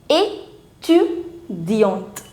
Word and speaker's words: étudiante: As soon as on the letter E, you put the accent aigu. This is accent aigu, the forward accent. The pronunciation of E changes from E to A. So now it's not A, it's A. Étudiante.